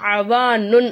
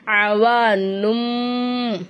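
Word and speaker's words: عوانٌ: குறியீடு நம்ம என்ன செய்யணும் மீமா மாத்தி உச்சரிக்கணும் அவானுன் அப்படின்னு சொல்லாம அவானும் அப்படின்னு சொல்லணும் அவானும் அப்படின்னு நம்ம என்ன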